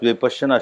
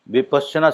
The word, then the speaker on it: विपश्यना: हमारे अपने साधक 3030 बरस के पुराने साधक विपश्चना शब्द का उच्चारण नहीं करते। ना विपसना का करते हैं ना विपसना का करते हैं। विपासना हम देख के चौकते हैं विपासना क्या हुई भाई जो धर्म विरुद्ध